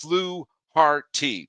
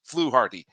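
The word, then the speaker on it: Fluharty: And then uh Miles Shells 359 says his name is pronounced fluarty. Yep. Okay, got it. Thank you so much. And then Conehead Jill says it's pronounced fluarty. I got it. I mispronounced it.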